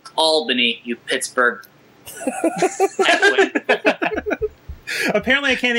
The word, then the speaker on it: Albany: Albany oh yeah radio baby it's uh it's pronounced Albany you Pittsburgh apparently I can't even announce the